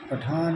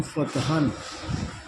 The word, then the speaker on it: Fathan: پٹھان is not the correct word. This is mispronounced from Fathan.